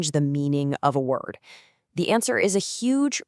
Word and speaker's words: 我: The character is wo, and the Pinyin tells you to say it wo with that dip and rise tone.